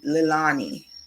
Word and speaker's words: Lilanie: Persons will say Lilani, and I actually prefer that pronunciation, but that's not the pronunciation that my mother ascribed. So I typically, if persons say Lilani, I don't correct them because I prefer how it sounds, but I don't say it that way because the sound my